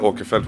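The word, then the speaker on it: Åkerfeldt: I am Michael okafelt which is the Swedish way to pronounce my name and I'm the lead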